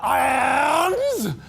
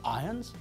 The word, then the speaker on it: Irons: we pronounce the word we don't pronounce the letter R when we say iron it sounds exactly the same as the word iron if we meet the actor Jeremy Irons we don't say hello mr. irons welcome to Hungary no we say hello mr.